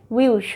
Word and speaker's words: will you: คำ ว่า เค้า เอลซู will you ออก เสียง เร็ว เป็น วิว วิว จู นะ คะ Thank You แล้ว